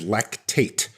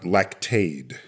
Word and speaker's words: lactate: So the pronunciation is lactate, not lactade.